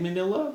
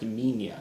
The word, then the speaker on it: Minya: It's spelled Manila. I've heard it said Manila, but I usually hear it pronounced Minya, so I'm going to call him Minya.